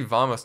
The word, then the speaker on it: vamos: Interesting to see vamos, not vamanos. Is it pronounced like with a B or a V? I'm dead serious. It's kind of in between. It's the in-between. Vamanos. It's more B.